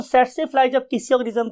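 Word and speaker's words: tsetse: इसे हम बोलते हैं स्टूडेंट सेट से फ्लाई। सेट से फ्लाई बिकॉज के टी is silent over here, हम टी नहीं बोलते, तो वर्ड इज सेट से फ्लाई, राइट।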